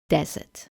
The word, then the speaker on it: desert: Now the E and R are in the unstressed syllable and we don't get the sound anymore. The pronunciation now is desert.